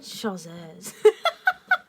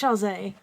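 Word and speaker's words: Chasez: I think I said Chazé. But it's Chazé.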